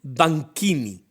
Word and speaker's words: Banchini: Su nombre, su nombre, diríamos civil fue Giovanni Dioménico Banquini. Se escribe en español banchini, eh, vamos a pronunciarlo a la italiana, banquini, aunque en las distintas